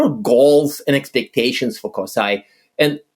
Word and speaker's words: CoSAI: think coai is what coai is the approved pronunciation of it coai cool okay awesome I love